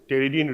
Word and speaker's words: pteridine: One pteridine ring, P is silent here, pronunciation is pteridine ring, plus para-amino benzoic acid and plus glutamic acid.